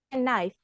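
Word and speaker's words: knife: ada pengecualian ya guys huruf k kalau Kalau ketemu sama huruf N itu huruf k-nya silent Oh Kak pisau pisau itu kan tulisannya Kif right Kif dibacanya knif terus tah tah itu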